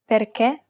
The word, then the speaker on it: perché: The other accent is the acute accent, and it's used to indicate that we should pronounce it as a closed E. Perché, finché.